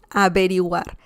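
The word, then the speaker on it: averiguar: something okay remember that the v sound in spanish is very similar to the b as in bell in english so don't worry about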